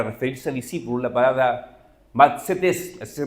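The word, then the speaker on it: μαθητής: palabra usa para referirse a discípulos la palabra mates así se pronuncia Y si uno va a un diccionario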